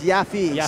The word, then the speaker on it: Yaffe: Instead of Yaff, it's Yaffe. Stephen Yaffe.